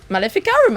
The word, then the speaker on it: Maleficarum: Where's the Maleficarum?